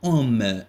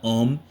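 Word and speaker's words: Ω: D'accord, le symbole que vous avez ici, c'est, donc, elle s'appelle oméga, mais ça se prononce ohm. On dit R égale à 20 ohms, d'accord, 100 ohms, 150 ohms, 2000 ohms, d'accord.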